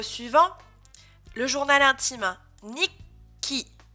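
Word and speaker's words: 日記: Nikki, Nikki, Nikki. Et vous faites une pause entre les deux cas.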